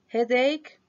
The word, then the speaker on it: headache: como la conocemos nosotros pero suena como k por ejemplo y el dolor no se dice h cake dolor de espalda headache dolores de cabeza sistema